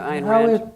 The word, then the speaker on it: Ayn Rand: No, Ayn Rand, right.